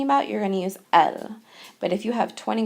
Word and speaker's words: elles: pronounced the same way El plural and El singular are pronounced the same way because we aren't pronouncing that s now here you're going